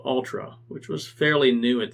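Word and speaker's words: Altra: but if you're not it sounds like Ultra as an ultra marathon but it's spelled differently it's spelled a l t r a and there were two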